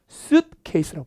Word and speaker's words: suitcase: 이런 여행용 가방을 우리가 suitcase라고 불러요. 오케이. 옷이죠. 옷. suit. 케이스는 가방. 옷 같은 게 들어갈 만한 큰 가방. 트렁크 같은 거. T 발음 약해요. 가운데만. suitcase가 suitcase 이렇게 발음하는데 알아두시면 좋습니다.